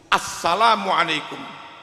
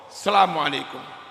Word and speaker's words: assalamualaikum: Bukti dari semua riwayat, termasuk Bukhari dan Muslim, menggunakan al, bukan hanya selam, bukan itu, tetapi menggunakan al, jadi harus dibaca assalamualaikum, tidak bisa hanya dibaca asalamualaikum, mengerti?